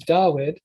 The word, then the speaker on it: Dawid: Like for David, originally it was Dawid or Duid, one of those, Dawid or Duid.